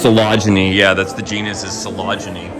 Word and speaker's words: Phalaenopsis: That's pronounced Phalaenopsis.